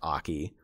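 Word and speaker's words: Ackey: but like i think it was spelled like a-c-k-e-y um but it was pronounced aki um and he was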